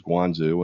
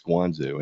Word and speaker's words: Guangzhou: the town of what in English is Canton, but in Chinese they pronounce it as Guangzhou, and I'm not even going to pretend that I'm pronouncing that correctly with the right accent. But in English sounding, it's Guangzhou, and actually Guangzhou is